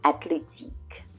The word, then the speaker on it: athlétique: With the H muet, we have the word athlétique. Athlétique means athletic. Okay, so there's a TH, but we don't hear the TH because it's silent.